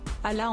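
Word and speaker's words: Hala: camarades de classe or Allah en français on ne prononce pas le H et quand je suis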